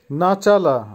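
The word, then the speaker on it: начало: রিয়াদ, রিয়াদের অর্থ হবে শাড়ি, ইংলিশে যেটা হবে রো অথবা লাইন, উচ্চারণ হবে রিয়াদ। আবারও বলছি রিয়াদ। নাচালা, নাচালার অর্থ হবে শুরু বা স্টার্ট বা বিগিনিং, উচ্চারণ হবে নাচালা।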